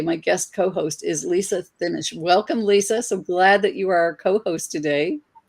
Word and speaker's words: Thimmesch: No, it's Thimmesch. There's a lot of silent letters in it.